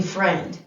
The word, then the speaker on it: friend: end begin er and because we don't hear that i do we in friend that i is silent the ie is saying e that's a really irregular chunk but that is a chunk i.e can sometimes say like in friend so we're going to